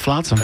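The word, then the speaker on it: flotsam: and jet now is it flatsome or floatsome come on let's discuss flatsom okay I got to go with flatsom yeah it's flatsom and jet I've been saying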